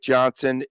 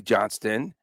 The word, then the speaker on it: Johnston: in the central Wyatt Johnson is on fire right now a five game point streak guess what Johnston yeah okay Johnston uh I was I was dragging local media for saying his name wrong last year I was